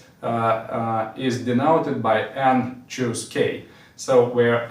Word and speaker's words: n choose k: And once again, it is pronounced as n choose K, and it is written like this.